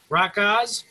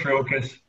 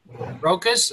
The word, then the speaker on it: Rokas: How do you say your name, Adam? Rockos? Oh, it's Rokas. Rokas.